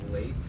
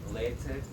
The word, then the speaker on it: Leite: Leite or leche. You know, it's like milk in Spanish, except with a T.